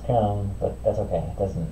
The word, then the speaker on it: Köln: You pronounce it Köln.